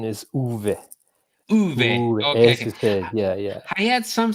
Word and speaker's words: Uwe: pronounce it the the english the english say ue and yeah the correct the correct pronunciation is uv yeah yeah i had some similar problems with